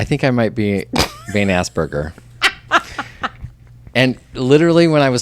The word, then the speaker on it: Asperger: It's Asperger.